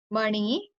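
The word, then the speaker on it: मणि: Mani. So here, when you will say like M-A-N-I, so it's not the usual N, it's N, like the Namo one, not Na one. It's not Navkar, it's Namo.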